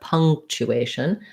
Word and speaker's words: punctuation: It's not punk, but punctuation. So we have a schwa, an NG sound. It's going to be an unstressed schwa because it's not stressed in that first syllable. So punctuation is stressed on the second to last syllable A. Punk, chew, we have a